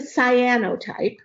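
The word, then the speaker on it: cyanotype: a Sinnoh type oh okay so it's a cyano type say honey not say it right cyan the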